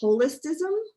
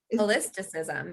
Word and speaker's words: Holisticism: i don't know why i can't pronounce it holistism holisticism yeah you're just missing one it's a made-up word